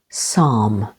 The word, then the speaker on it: psalm: the second syllable pneumonia p is silent before S as in the words Psalm Psychiatry with the stress